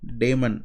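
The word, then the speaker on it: Daemen: And the other author of this Rijndael algorithm is Johan Damon. Again I am pronouncing it English. So this guy is actually original pronunciation is in Dutch.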